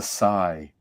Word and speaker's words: Psi: Do you pronounce this Psi or C, or how do you pronounce that next word? I say Psi powers.